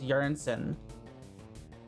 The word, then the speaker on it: Jørgensen: I had a Danish person tell me Jorgensen is Jørgensen. Jorgensen. Something like that.